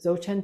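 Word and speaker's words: Dzogchen: curious about this practice it's based on the zochan teachings I can spell that for you d z o g c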